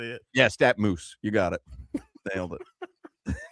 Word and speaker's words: StatMuse: Yeah, StatMuse.